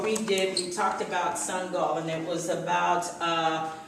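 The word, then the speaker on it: Sangoel: made a son and he made a goal with a soccer ball so you can pronounce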